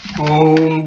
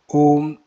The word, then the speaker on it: Om: The word as written in Sanskrit consists of three letters, A, U and M.